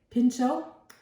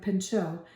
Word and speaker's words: Pinchot: Okay, Pinchot was one of Teddy Roosevelt's friends. Maybe you would say Pinchot, how they say his name, because he's French. He's a French guy.